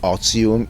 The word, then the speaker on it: Otium: So the TI is a Z, so Octium is the right Latin pronunciation because it's a Latin word, as Barbara will explain.